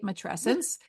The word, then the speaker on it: matrescence: I'm going to say it right, matrescence.